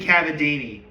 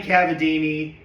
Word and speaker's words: Cavadini: I always forget how to pronounce um uh Blossom's voice actor's name. Hold on. Kathy Cavini. Sorry. Kathy Cavini. That's who. Who? Kathy. Kathy Cavadini, Eeg Daly, and Terara Strong who were Blossom, Buttercup, and Bubbles respectively.